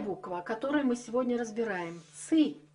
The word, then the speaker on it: цы: называется ц по церковнославянски ц пишется через ы потому что произносится твёрдо под титулом обозначает букву цифру 900 цы произносила мягко ци яйця курит не утт до сих пор очень многие территории Восточного славянства имеют это мягкое ц Да и по начертанию